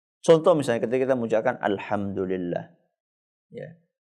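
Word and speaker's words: الحمد لله: misalnya ketika kita mengucapkan Alhamdulillah ya banyak orang ketika membaca itu enggak sempurna karena pengin cepat selesai maka dia bacanya dulillah dulillah dulillah apa itu dulillah ya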